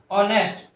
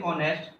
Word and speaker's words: honest: Honest. If we start with honest, H is not a vowel, means the sound H, the word H is not an vowel, but it is, here H is silent.